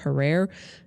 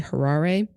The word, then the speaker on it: Harare: I called the capital of Zimbabwe in my last episode Harare, and it's actually Harare.